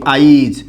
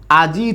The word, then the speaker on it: আজি: এর পরে আছে কিন্তু এটাকে আমরা আবার অনেক সময় এরকম উচ্চারণ করি আইজ যদি এরকম হয় আজি থেকে আইজ তাহলে একটু খেয়াল করুন